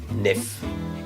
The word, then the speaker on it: NEF: Donc les fichiers Nikon portent l'extension NEF et se prononcent NEF.